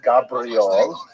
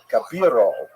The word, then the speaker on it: Gabirol: pointed out to me it's not even Gabriel, it's even Gabirol or Gabirol. I put the I in the wrong place.